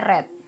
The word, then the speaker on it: read: kerja tidak beraturan ya Nah read retret dan penulisannya sama sama-sama red kayak gini tapi pengucapannya aja yang beda kalau dia bentuk ketiga bacanya red ya Wih evret dan ini